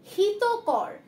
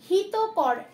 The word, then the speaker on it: হিতকর: দেখো ফার্স্ট যে শব্দটা রয়েছে হিতকর। হিতকর, আমরা এটা হিত করো বলবো না আর হিত করো বলবো না, এরকম ভাবে আমরা কোনোটাই বলবো না। আমরা এটা কি উচ্চারণ করব? হিতকর।